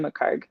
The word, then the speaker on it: McChargue: Um the H is silent, so it's Mccar.